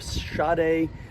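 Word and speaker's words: Sade: that and the other thing look her up shade clackin joseph and and it's spelled s-a-d-e and her middle name is clackin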